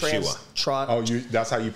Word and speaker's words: Yeshua: like the number one rule of Yeshua. That's how you pronounce.